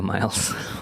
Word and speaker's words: Myles: She pronounces it Sophia Miles on the commentary.